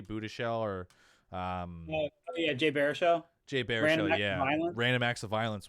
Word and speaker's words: Baruchel: Another one that does it really good is Jay Budish. I think that's how you say his name, Jay Budishell, or Jay Baruchel. Jay Baruchel, yeah.